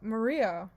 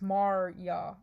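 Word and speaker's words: Marya: to be maria but it's spelled m-a-r-y-a that's mar-yaw is oh gosh my i'm i'm americanizing everything i'm pretty sure it's just maria but mario bokonski and julie's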